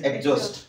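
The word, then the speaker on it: exhaust: এরও সাউন্ড হয়ে নাই মনে রাখো ই এক্স পরে এইচ যদি আসুচি তবে সাউন্ড এইচরও হয়ে নাই কেমিতে দেখো ফর এক্সাম্পল ইয়াকু কেমিতে পড়িবা এক্সজাস্ট হোস্ট নয় ইট ইজ এক্সজাস্ট এথিরে আমি এচ পড়িবার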